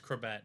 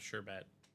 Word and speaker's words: Corbett: Yeah, it's Corbett, not Sherbet. Wayne Sherbert. No, it's Corbett.